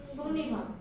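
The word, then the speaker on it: 속리산: 이거 어떻게 발음해? 송리산.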